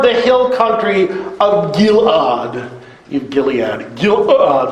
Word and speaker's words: Gilead: Gilead, there's a silent letter in there.